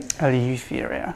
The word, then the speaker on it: Eleutheria: Eleutheria. Yeah. I think it's kind of a long U. We'll let the British say it, because I don't think we are fond of long vowels.